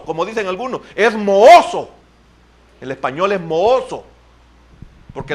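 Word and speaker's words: mohoso: el centavo moso o mojoso como dicen algunos es moso el español es moso porque la H no se pronuncia como J ahí andamos con unas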